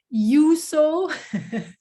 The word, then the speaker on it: Juuso: i'm lilo and my guest today let me pronounce it correctly is you so right you got it thanks uh he's the